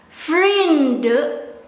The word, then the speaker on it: vrienden: Some Dutch will skip this N, the letter. Some will pronounce this friends as vrienden, but I'm not native